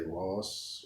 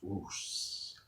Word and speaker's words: Roos: Some people say Ross, or they don't know how to pronounce it. It's kind of easy. It's just 4 letters. Roos.